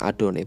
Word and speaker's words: YHWH: tetapi karena ini Tuhan kata yhwh diucapkan adoni Berarti ada harus akan